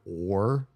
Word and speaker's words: o: In Spanish, the word or is o. It's just the letter O. It's pronounced O. It's not a diff thong. It's not O like English O. It's just O.